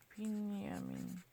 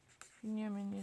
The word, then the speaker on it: Binyamin: You can see Binyamin. Binyamin is basically Benjamin. And then Netanyahu. I know that much. Don't lie.